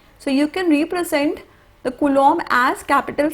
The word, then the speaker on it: coulomb: of charge is coulomb c-o-u-l-o-m-b so when you pronounce it b is silent it is coulomb okay so this unit